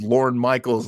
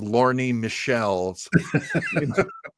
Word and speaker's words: Lorne Michaels: I didn't realize it was an AI until it, you know, called Lorne Michaels, Lorne Michelle's.